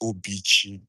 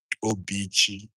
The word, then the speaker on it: Obichi: That's how it is pronounced, Obichi, Obichi. Not some people call me Obichi, some people call Obichi, but the right way to pronounce it, according to my own mother tongue, is Obichi, which is the heart of God.